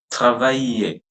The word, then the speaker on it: travailler: Whenever a word is ending with ER, especially the verbs, like this is a verb, so we pronounce that ER as A. Okay. Otherwise, only E at the end is never pronounced. So it's travailler, travailler, travailler, travailler, travailler, travailler.